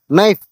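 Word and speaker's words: knife: letters ಅಂತ ಕರೀತಾರೆ ಉದಾಹರಣೆಗೆ ನೈಫ್ ಕೆ ಎನ್ ಐ ಎಫ್ ಇ ನೈಫ್ ಇದು ನೋಡಿ ಇದರಲ್ಲಿ ಇದನ್ನ ಉಚ್ಚಾರಣೆ ಮಾಡುವಾಗ ಕೆ ಸೈಲೆಂಟ್ ಆಗಿ ನೈಫ್ ಅಂತ ಕರೀತಾರೆ ಅದೇ ತರ ಆನೆಸ್ಟ್ ಆನೆಸ್ಟ್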